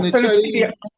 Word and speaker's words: fettuccine: Uh fettuccine or oh, fettuccine.